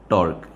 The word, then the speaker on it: tau: इसको प्रोनाउंस कैसे करते हैं सिंबल को? टॉ। मतलब अगर आप इसकी स्पेल करें, मतलब TAU, तो लेकिन स्पेलिंग नहीं लिखनी होती है, बेसिकली इसको इसकी प्रोनाउंसिएशन पता होनी चाहिए, ठीक है, कि भाई